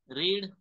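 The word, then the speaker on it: read: तुम्हाला मी शिकवलं बघा रीड याचं पास्ट फॉर्म रीडच लिहितात पण वाचताना याला रेड असं वाचतात हे रीड आहे करेक्ट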